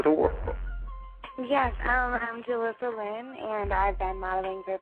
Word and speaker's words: Jillisa: let me ask you miss lynn am i pronouncing that right is it julissa that's how you say your name yes very